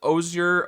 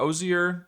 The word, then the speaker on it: osier: And let me know if you're familiar with Ozir or Oer or Ozier trees, depending on how you want to pronounce that.